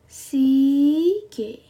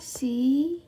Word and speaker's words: 시계: 시계. Jam adalah 시계.